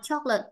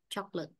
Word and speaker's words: chocolate: Đọc nào chocolate à chocolate Ở đây có hai âm tiết thôi choc Và ở đây là trọng âm rơi vào âm tiết một chocolate vậy 1 2 1